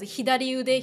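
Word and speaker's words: 左腕: Yeah, it should be pronounced as hidari ude.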